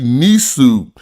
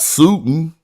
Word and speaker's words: nisu: he name wrong anyway it should be nisu not suiting so I was aware